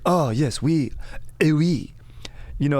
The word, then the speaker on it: oui: Oui. You know, a common mispronunciation is we say we as Americans. It's actually oui.